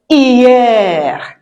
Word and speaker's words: hier: No, we don't pronounce the H. So we say hier because I sounds E.